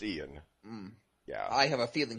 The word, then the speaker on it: Ion: Uh I It's spelled Ion, right? It's Ian.